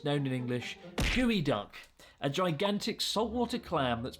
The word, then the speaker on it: geoduck: No, it's called gooey duck.